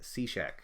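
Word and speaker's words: Cishek: Somebody uh Dave just told me the pron correct pronunciation for the closer is Steve Cashek.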